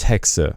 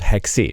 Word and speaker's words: Hexe: year and it's pronounced hexa because hexa is actually a German word and I'm from Germany so it's not hexi it's hex almost like